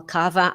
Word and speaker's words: Kawa: a Polish funny and I've learned how to pronounce it well Cava and valinska today hopefully I've done them Justice